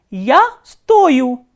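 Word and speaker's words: стою: is to cost, and if you look at both these forms, you will find the spelling is same. The only difference is the stress. Here the stress is placed on U and here on O.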